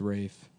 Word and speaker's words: Ralph: It's pronounced Rafe. But it's spelled like Ralph.